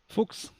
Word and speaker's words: Fuchs: I Fucks. think. I don't know. How do you properly pronounce it? Fuchs.